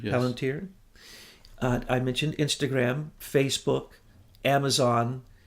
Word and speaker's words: Palantir: Palantir, yes. Palantir.